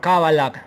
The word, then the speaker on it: cábala: La cábala también se lee o se pronuncia como Kabbalah con K, Kabbalah o Kabbalah.